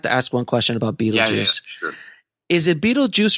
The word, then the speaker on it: Beetlejuice: I don't know if it's a pun exactly, but the idea of that we would take BeetleGuice but pronounce it BeetleJuice, and then we changed